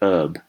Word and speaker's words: herb: So one explanation for that could be that they didn't pronounce the H on herb, and we don't think they did in the early modern English period, that we added an H later on, so they would have said herb like Americans do.